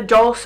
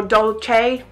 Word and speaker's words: Dolce: This is Jennifer Lopez Inglot collaboration, and this lipstick is called either Dolce or Dolce, depending on how you want to pronounce it.